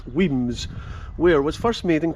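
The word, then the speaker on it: Wemyss: who's having a party weems pronounced weems where was first made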